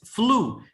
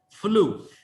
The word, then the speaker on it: flew: pronounce this one it's flu this one ew is pronounced like oh always you know you never say flat do not say that it's ooh flew i flew i flew to